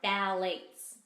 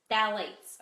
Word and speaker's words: phthalates: so number one are phthalates phthalates okay these are two peas but the the P in this one is silent so what is a